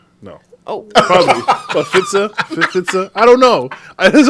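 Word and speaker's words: Pfizer: The P is silent, Every brother. time I see that, I'm like, Pfools?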